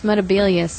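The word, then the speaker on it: Metebelis: Yeah, it's Metabelius, and he said Metabolus.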